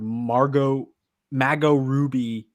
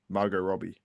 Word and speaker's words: Margot Robbie: ask him if he thinks Margot Robbie is sad about being called Mago Ruby. How do you say it? Margot Robbie.